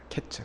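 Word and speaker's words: קֵץ: 여기 그 여름 과일을 히브리어 이야기하면 카이츠입니다. 카이츠. 그리고 끝. 이건 히브리어로 캐츠입니다. 캐츠. 카이츠와 캐츠. 발음이 비슷하거든요.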